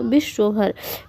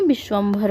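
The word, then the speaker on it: विश्वम्भर: हैं हम लोग जीव विश्व भर विश्व भर नहीं विश्वम भर होता है क्या होता है विश्वम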